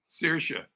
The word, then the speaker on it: Saoirse: So how do you pronounce her name? Saoirse.